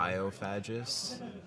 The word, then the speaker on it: Biophagus: biophagus? Yes. Soft G.